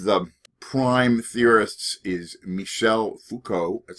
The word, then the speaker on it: Foucault: well one of the prime theorists is Michel Foucault that's how you pronounce his name he talked about a pan